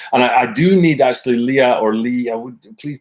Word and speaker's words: Lea: you yeah as Lia it's pronounced like Lea like Princess Lea so because my family name is Lea le e you skate Annika in